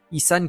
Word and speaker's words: Isan: Issan qui se prononce donc issan et non issan.